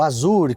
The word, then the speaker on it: Azure: Ele sai em crédito para que a OpenAI use a plataforma da Microsoft, o Azure ou Azure, como a gente pronuncia às vezes aqui no Brasil, que é o sistema de nuvem da própria Microsoft.